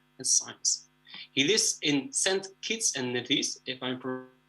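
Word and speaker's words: Saint Kitts and Nevis: He lives in St. Kitts and Nevis, if I'm pronouncing it correctly.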